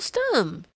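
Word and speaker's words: Stumm: "Why, it's Colonel Stum!" he cried. He pronounced it like the first syllable in stomach.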